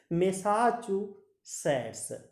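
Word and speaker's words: Massachusetts: फिर रिपीट कर देता हूँ, थोड़ा सा प्रोनाउंसिएशन इसका टफ है बट ध्यान से करोगे तो टफ भी नहीं लगेगा आपको। मैसाचुसेट्स, फिर रिपीट करता हूँ, बोस्टन मैसाचुसेट्स, बोस्टन मैसाचुसेट्स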